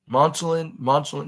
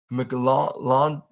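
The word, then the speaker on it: McLachlan: We got some daughter news as they spoofed Sarah McLon, Monchlin, yeah, McLaughlin, McLaughlin, yeah, McLaughlin of on the ASPCA commercials.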